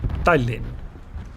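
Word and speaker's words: Tallinn: Oh yeah, for those who actually want to know, the way you pronounce Talin in the language that the name's actually from is Talin. I know it it doesn't sound different to you, or at least not significantly.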